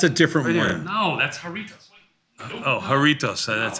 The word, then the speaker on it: Jarritos: Gibrajito or whatever. Yeah, this thing. No, it's regular Fanta. Like that's a different one. No, that's Jarritos.